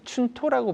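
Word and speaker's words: 春闘: 왜 그러냐면은 일본에는 봄에 임금 인상을 갖다가 협상하는 춘토라는 게 있습니다. 그걸 이 춘토라고 발음을 하던데요.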